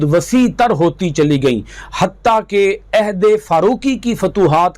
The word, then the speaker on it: حتی: کے درمیان بھی تھا۔ مثلا قریش لفظ حتی بولتے تو بنی حذیل اور بنی ثقیف اس کا تلفظ حتی کی بجائے عطا کرتے۔ اس میں ہے اور عین کا فرق ہے، یعنی وہ ہے کے ساتھ حتی پڑھتے اور یہ عین کے ساتھ اتا پڑھتے۔ قریش کی لغت میں